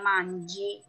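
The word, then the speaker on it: mangi: Paling ada beberapa pengecualian, kayak misalnya G ketemu I jadinya J, jadinya manji.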